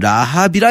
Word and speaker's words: 라합: 이 발음이 조금 비슷한데 사실 여리고성의 라합은 라합이라고 길게 발음해야 되고 여기 짧게 발음하는 건데 라합. 요 라합 언제 나왔었냐면요.